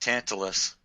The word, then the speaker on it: Tantalus: It's pronounced Tantalus.